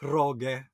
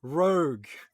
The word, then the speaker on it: rogue: I think, like it was in a book, and I asked my teacher, "What is roge?" But my teacher was like, "Rogue," because you know how in Tagalog it's ue is pronounced well, a letter then ue is like ge.